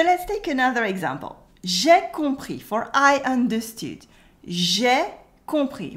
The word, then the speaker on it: compris: Here you can notice that the S at the end of compris is silent and O and M make a on sound, the nasal on.